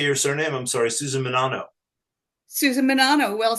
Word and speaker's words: Menanno: I'm sorry, Susan Menanno.